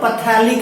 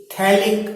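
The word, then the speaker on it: phthalic: नाम है थैलिक acid, not पैथेलिक acid. pH is silent over here, so it will be thalic acid.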